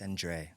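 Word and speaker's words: Cendré: Yeah, like a little It's It's a French word.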